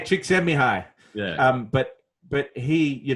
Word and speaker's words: Csikszentmihalyi: me hey chickie 200 Csikszentmihalyi is it yes yes yes Mihai yeah yeah yes but if you read it you'll never pronounce it I won that one B hey chick semi-high yeah but but he